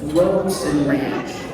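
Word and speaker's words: Robson Ranch: It's Robeson Ranch. It's spelled incorrectly.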